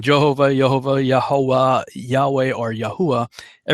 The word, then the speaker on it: Yahuah: Some say, well, there's no J, so it should be Yehovah. And others say, well, there's no V either, so it should be Yahuah. Others say, no, it's Yahweh. And I have settled on Yahuah.